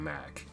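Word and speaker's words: Mach: boy hang on mac i know it's pronounced mock but i call him mack i'm saying this is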